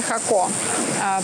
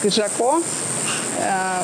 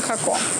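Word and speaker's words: Jacó: По-испански это называется Хако. По-английски его пытаются читать как Жако. Вот, но это Хако.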